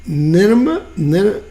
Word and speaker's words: Nineveh: Right, and for those of you that don't know it, the library in, and help me, Nineveh?